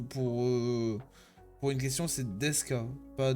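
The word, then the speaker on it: ですか: Par exemple pour pour une question c'est Deska pas Desuka alors que Deska c'est euh c'est c'est éloigné.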